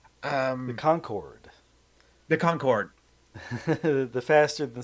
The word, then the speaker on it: Concorde: perspective is a framed picture of the car Carcone. My dyslexic brain cannot process how to pronounce that correctly. The Um, Concord. the Concorde.